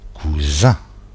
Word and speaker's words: cousin: En résumé, la lettre S entre 2 voyelles se prononce ZE. S'il n'y a pas de voyelle, ça se prononce SE.